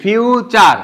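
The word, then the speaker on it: future: কি বলি এফ ইউ টি ইউ আর ই ফিউ চার ঠিক না বলি না তাহলে এফ এর পর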